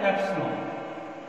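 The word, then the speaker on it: epsilon: और इसको हम प्रोनाउंस करते हैं एप्सिलॉन। इसको एप्सिलॉन पढ़ा जाता है।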